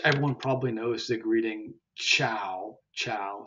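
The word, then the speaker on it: ciao: then of course everyone probably knows the greeting Chow Chow c i a o which is soft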